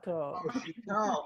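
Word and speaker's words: Chouteau: Oh, Chateau. Oh, Chateau. If you pronounced it that way, we could have gotten it.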